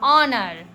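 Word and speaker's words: honour: हम बोलते हैं घोस्ट इसको हम honest O H silent honest H ओ यू आर और एच ओ एन ओ आर ऑनर यानी एच भी कुछ वर्ड्स में साइलेंट होता है।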